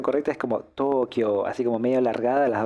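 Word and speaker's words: 東京: sería como en realidad a la hora de pronunciarlo sería como una doble o entonces Tokio Tokio Bueno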